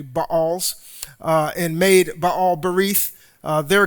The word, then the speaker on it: Baals: As soon as Gideon died, the people of Israel turned again and whored after the Baals, or Baals, some would pronounce it, but it's literally actually Baals, and made Baal Berith their god."